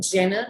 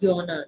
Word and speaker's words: genre: So it's like yawner. It's not G-E-N-R-E as in Jenner, but it's yawner. That's the way you pronounce it.